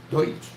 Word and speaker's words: Deutsch: Deutsch. Her name was Deutsch, like Deutschland. Yeah. Yep. That was my mom. That is my uncle's name is Deutsch. My brother's name is still Deutsch.